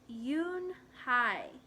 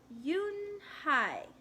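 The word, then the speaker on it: Unhei: "Yes, it's pronounced Yoon-Hai. And it means grace," Mr. Kim added. "Yoon-Hai," Joey said slowly, and this time perfectly.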